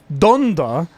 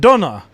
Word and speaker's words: Donda: The album is called Donda, not Donna. Please say it right when you're calling out the Patreon list. It's been driving me crazy hearing you say it that way like every week.